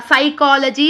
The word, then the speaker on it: psychology: like for example simple psychology is there, psychology is there. Will you pronounce P? No. Simply will pronounce like from here only P is a silent.